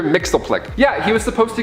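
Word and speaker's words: Mxyzptlk: powers of Mr Mixel which is spelled so differently I had to like write it in like you know a dictionary where it breaks it down Mr Mixel Plick yeah he was supposed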